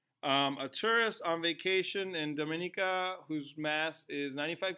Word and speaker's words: Dominica: island in the Caribbean no it's not Dominican I saw the Dominican Republic it's Dominica Dominica so this could be